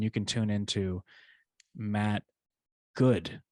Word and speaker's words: Goud: can tune into Matt Goud, right? Right. Yeah, not Gold. There's an L in there, but the L is silent.